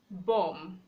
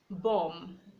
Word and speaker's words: bomb: B is silent after M in one syllable, as in bomb, bomb. You have to say bomb and not bomb.